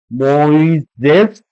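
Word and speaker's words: Μωϋσῆς: Finally, hi Moses, on if you see there on woo, sorry, on woo there are two dots, which means there are two vowels coming. They have to be pronounced separately.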